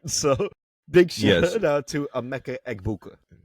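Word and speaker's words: Emeka Egbuka: That I finally got to pronounce it right. So, big shout out to Amecha Eggbuka.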